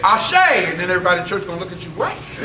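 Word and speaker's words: àṣẹ: the way for those who don't know what ashay means it's spelled a-s-e accent in English characters and it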